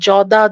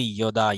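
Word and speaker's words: यदा: এটা এটা বাংলায় লিখছে তো এই কারণে জ লিখছে, কিন্তু এটা উচ্চারণ করতে হবে ইয়দা ইয়দা। ঠিক আছে, ইয়দা ইয়দা, আমি দেখাবো এগুলো আচ্ছা, আমাদের উচ্চারণের শ্লোকের উচ্চারণের নিয়ম ক্লাস থাকবে, সমস্যা নেই। ইয়দা ইয়দা, তাহলে এটা জ হবে না, ইয় বলতে হবে।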